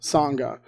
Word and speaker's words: sangha: word spelled out so so that's how it's pronounced sangha so i was discussing that with them they